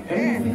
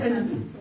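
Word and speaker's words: Eniton: anything can happen. Yes, her name is Anything.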